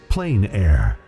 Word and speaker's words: plein air: The French pronounce it plein air. Others say plain air.